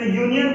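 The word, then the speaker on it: union: जैसे यूनियन है, तो यूनियन को हम अगर प्रोनाउंसिएशन करें तो क्या होता है? यू।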